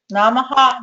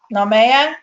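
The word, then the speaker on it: Naamah: it I remember correctly it's um namaha not know man and she was listed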